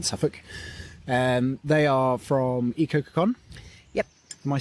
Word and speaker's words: Ecococoon: in uh in suffolk um they are from ecocacon yep am i saying that right you are